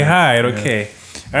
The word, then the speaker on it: Hyde: Hyde. Is that how we say it? Is that how we say it? I want you to pronounce for the people. That's how we say it. That's how we say Hyde.